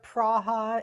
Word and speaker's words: Praha: Here, it's either Prague or Praha is the, you know, more traditional way, so close enough.